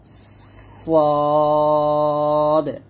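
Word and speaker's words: ص: উচ্চারিত হয় জা সিন সদ। এখানে জা এবং সিন দুটা পাতলা আর সদটা মোটা করে উচ্চারণ করতে হবে।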